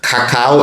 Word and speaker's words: cacao: Cocoa is a more anglicized pronunciation, and cacao is a pronunciation that is closest to the native languages of Mesoamerica, and also the French and Spanish pronunciations.